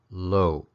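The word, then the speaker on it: လို့: particles then four because the first is pronounced low to the second gel so they both finish with that short creaky tone sound now let's look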